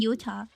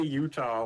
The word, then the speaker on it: Utah: Like in like in Utah, you're a genius. But I say Utah like Utah like a Midwesterner.